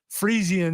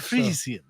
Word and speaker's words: Frisian: Steven says Frisian is how it's pronounced. This is how I pronounced it in the first place. Frisian. Frisian was just like Frieza.